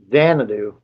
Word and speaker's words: Xanadu: Thanks, Hella Archie Dude, and Adventures in, how do you pronounce that? Xanadu.